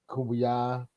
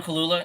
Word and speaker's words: Kaluuya: Kubuya. Sorry, I butchered his name. Daniel Kaluuya.